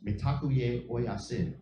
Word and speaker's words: Mitakuye Oyasin: It's Mitakuye Oyasin. It's how it's said in Lakota.